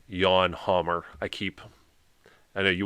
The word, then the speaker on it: Jan Hammer: about uh Jan hamour it's actually pronounced yawn Hammer I keep I know you want to say Jan hammer or other thing it's actually yawn Hammer I've even I'm screwing